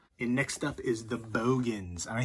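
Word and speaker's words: Boogens: And I remember saying The Bogans, and somebody was like arguing with me. It's The Boogans. Obviously, it's spelled Boogans, but that guy in the movie said Bogans.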